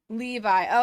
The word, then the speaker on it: Levi: It's all fun and games until I realize I don't know how to pronounce Levi the jeans either. Levi.